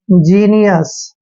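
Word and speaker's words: genius: Next word, जी ई एन आई यू एस, जब भी जी के बाद ई आता है तो जी का उच्चारण जय करते हैं, तो जी को हमने जय पढ़ना है, ई को छोटी की मात्रा पढ़ना है, और देखिए एन आई का उच्चारण नी करेंगे ऐसे, ठीक है, और यू एस का उच्चारण हम अस करते हैं।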